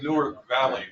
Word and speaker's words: Newark Valley: in the V in the town town of Nerk Valley. I learned how to pronounce it by the way Newark Valley we down.